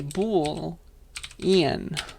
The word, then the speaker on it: boolean: the first time uh booleans are not just bull you have to add the ian part as well okay they like you to spell it out so you got to say bull ian boolean be equals true